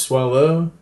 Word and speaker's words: Soileau: cabin swallow but uh it's pronounced swallow cuz it's like French I like that's probably not even a good pronunciation but it's a French last name and so um this